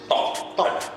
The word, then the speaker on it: Thok: Dibacanya tuk apa tok sih? THOK tok ya. Awal juga gue liatnya apa stok ya. Ternyata bukan. Tok ya.